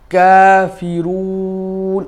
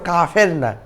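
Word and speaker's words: كافرون: আইয়ু, কুল ইয়া আইয়ুহাল কাফিরুন। এখানেও কাফের না, আমরা অনেকে বাংলায় কাফের বলতে বলতে এখানেও কাফেরুন পড়ি, এটা ভুল।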